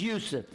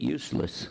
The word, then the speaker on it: Yusuf: My name's Yusuf. Can you say Yusuf? You got it right on the first time. All these years, my wife still pronounces it useless.